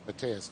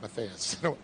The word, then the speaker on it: Mateus: She's like, Dave, it's Mateus, not Matthias.